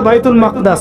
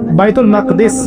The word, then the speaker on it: বাইতুল মাকদিস: এবার এই বোরাক চলে গেল বাইতুল মাকদাস। এটা কোথায়? বাইতুল মাকদিস, বাইতুল মাকদাস না, বাইতুল মাকদিস।